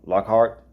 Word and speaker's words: Lockhart: your last name i'm i'm probably gonna pronounce wrong lockhart yeah that's exactly how it's spelled yes okay always afraid